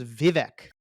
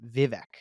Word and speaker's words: Vivek: But so his name is Vivic. That's how you say his name, Vivic. that's so interesting. On the All In, they still say Vivek every day.